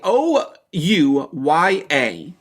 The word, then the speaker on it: Ouya: get you the here how do I spell it o o u y a it's pronounced Ouya is a video game